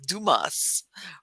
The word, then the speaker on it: Dumass: know gets all upset oh you pronounce my name it's like Dumas or something like that so yeah you can say it however you want to but I say I